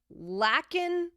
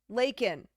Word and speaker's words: Lakyynn: Her name will be Lakin K. Hatch. Pronounced Lakin, but spelled Lakyynn. But pronounced Lakin.